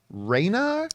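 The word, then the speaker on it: Rhaenys: to pronounce her name it's not Rainer it's Reina Reina Reina yeah the queen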